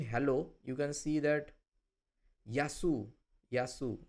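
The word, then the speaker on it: γεια σου: So, here also in hello, you can see that yasu.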